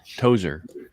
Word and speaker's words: Tozier: say your last name my last name's tozier tozer that's right yeah i think i